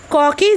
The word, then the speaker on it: ক: রামকৃষ্ণ বললে, বল ক। লাটু উচ্চারণ করলে কা। ওরে কা নয় ক, বল ক।